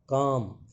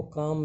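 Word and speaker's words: calm: Life in A village is very काम। ये देखो काम में जो एल है ये साइलेंट है, इसकी का उच्चारण नहीं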